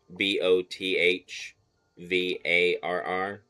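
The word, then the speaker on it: Böðvarr: So his name is Bodvarr with a TH, Bothvarr, but it's that's not how it's spelled.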